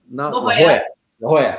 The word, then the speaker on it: La Jolla: La Jolla.